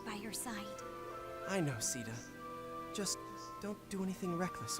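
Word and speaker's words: Caeda: previous episodes I've referred to this character as kada and that's how I've always assumed her name was pronounced since I played Shadow Dragon on the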